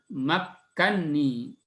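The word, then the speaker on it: مكني: Ya, yaitu pada kalimat makkanni di surat Al-Kahfi di halaman-halaman akhir. Qala ma makkanni fihi rabbi khairun fa'inuni. Ya, di situ asal katanya adalah makkanani.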